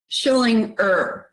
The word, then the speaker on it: Schillinger: And now you previously played a pretty chilling character on Oz, Vernon Schillinger, right? Well done. Yes, thank you for the pronunciation.